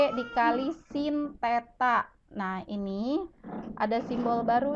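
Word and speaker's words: θ: lho Bu nol setrip ini bukan nol setrip tapi dibacanya Teta jadi percepatan = G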